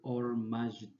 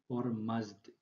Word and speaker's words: Ormazd: Ketika dibaca ia menjadi Ormazd ya, Ormazd atau Ahura Mazda. Itu Tuhan cahayanya orang-orang Majusi. Jadi orang Majusi itu mereka meyakini ada kekuatan ke terang atau cahaya itu Ormazd dan kegelapan itu Ahrimen,